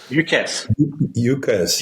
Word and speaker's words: UCaaS: Everything seems to be as a service these days, but UCR, is it pronounced UCRs or USARs? UCaaS.